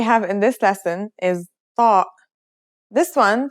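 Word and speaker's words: ط: It kind of sounds like the T in the name Tom. When you pronounce it, try to constrict your throat like you did with sad.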